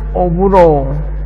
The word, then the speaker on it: oburo: Then you have a word called oburo, which is o wu ro.